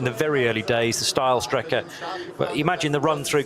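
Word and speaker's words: Steilstrecke: steel Striker is now still Striker being that effectively the straight line route through the karachiola carousel so uh or style Striker would be the correct pronunciation where the track used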